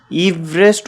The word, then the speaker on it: Everest: নামে নামকরণ করা হয় তাই এটিকে ইভারেস্ট উচ্চারণ করা উচিত এভার নয় এভারেস্ট কে মূলত নেপাল